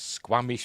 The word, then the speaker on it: Squamish: this is actually Squamish is that how you pronounce it uh just double check yes Squamish British Colombia so they want you to think